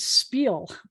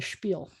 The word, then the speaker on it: spiel: whole story the whole thing but they'll often pronounce it spiel and that drives me crazy it's a spiel like a schmooze it's not a smooth it's